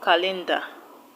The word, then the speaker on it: calendar: don't stress ocean d calendar calendar calendar is a name of something you know what a calendar is so the stress will go to the first level so this is the